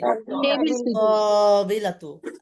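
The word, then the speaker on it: الطاولة: এটা B group Shamsia Shamsia. লামের উচ্চারণ হবে না, লামের উচ্চারণ হবে না। তাওইলাতু তাসদিদ হবে, টানতে হবে। আত্তাবিলাতু, আত্তাবিলাতু।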